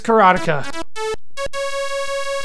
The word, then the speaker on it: Karateka: But I'm told it's Karateka.